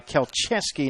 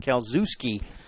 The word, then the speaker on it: Keski: last name pronounced wrong it was uh keski not KUSI so my apologies as